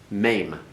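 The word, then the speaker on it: מם: John what's this one maim make certain you get that a sound in their name okay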